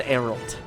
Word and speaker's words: Geralt: Oh my god, the G is silent. It's just Geralt.